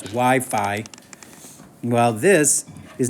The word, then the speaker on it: Wi-Fi: it like I said if you were saying wiffy it clearly means you don't know what you're talking about that's Wi-Fi well this is not log five eight log base 5.